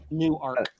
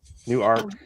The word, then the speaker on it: Newark: like spelled like the city in New Jersey. New Arc. Newark.